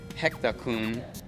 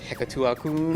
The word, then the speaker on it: Hector-kun: I went through like so many different names, and I ended up going with Hector-kun. So many people don't know how to pronounce it. They're like Hekatua-kun or something.